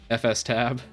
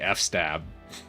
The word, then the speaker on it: fstab: docker compose fstab yeah i always like to say f-stab it drives people crazy but i dropped the syllable to do that that's why i say it that way and i like how it sounds better but it's technically like file system tab is why people say fstab again i'm terrible with